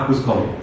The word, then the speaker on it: Auguste Comte: Tulisannya Auguste Comte ya, tapi bacanya Auguste Comte.